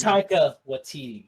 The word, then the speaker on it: Taika Waititi: much, Antoine, who's played by I get his name wrong, Tony. What's his name? Antoine. The guy. Oh, Taika Waititi. Taika Waititi. Taika Waititi.